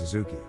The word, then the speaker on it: Adzuki: The name Adzuki is a Japanese word whose pronunciation is Azuki.